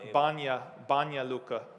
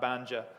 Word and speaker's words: Banja Luka: The J in Bosnia is pronounced like a ya, right? So it's Banja Luka, right? Not Banja.